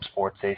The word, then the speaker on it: SportsEh: on Twitter and uh it's spelled as it would sound with the eh you know Canada a you know the the The Stereotype uh Sports a SP p o r TS e that's on Twitter follow